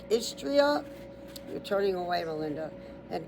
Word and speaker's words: Istria: So that sounds close to Austria, but it says regions like is. So it's is like is going to the store is tria like Austria t r i a is tria the let's start over